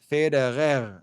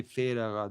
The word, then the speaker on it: Federer: They say Federer. They say it like with the rolling of the R, with the Swiss dialect, but they do say Federer the same way when they're speaking to a German.